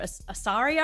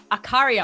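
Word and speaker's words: Accaria: And Drummer Queens was created and composed by Joe Asaria. I think that's how you say his last name, isn't it? Akaria. Oh, sorry. I pronounced the C wrong.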